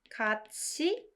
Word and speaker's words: 같이: 같이, this one is pronounced 같이, and it means together.